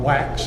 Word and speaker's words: WEX: found a company called Wax. It's spelled W-E-X, but it's pronounced Wax, they tell me.